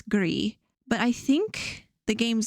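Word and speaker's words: Gris: that in French it's gree but I think the game's developers speak Spanish so they intended it to be pronounced gree which means gray in Spanish Greece G Greece gree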